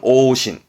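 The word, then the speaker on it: 往診: 그 왕진의 진짜, 왕진의 왕자기도 하고 발음은 오신.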